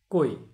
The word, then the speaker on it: কৈ: ক যোগ ওই সমান কই। তাহলে কয়ের যখন আপনি উচ্চারণ করবেন তাহলে কয়ের সাথে ওকার দিয়ে উচ্চারণ করতে হবে, কই। তাহলে এটি হবে শুদ্ধ উচ্চারণ।